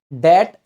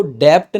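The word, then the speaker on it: debt: कर्जे में फस गए डेट ट्रैप इसमें ध्यान दीजिएगा इसको डेप्ट नहीं पढ़ते बी साइलेंट रहता है मालदीव्स और आपने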